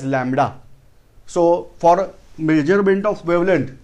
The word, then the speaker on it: lambda: This letter is pronounced as lambda.